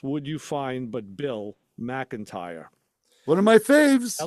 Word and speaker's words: McIntyre: On here, it's written MAC-IN-TIRE, McIntyre. McIntyre.